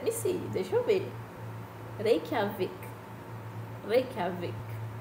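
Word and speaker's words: Reykjavík: Reykjavik. Reykjavik. É assim que pronuncia.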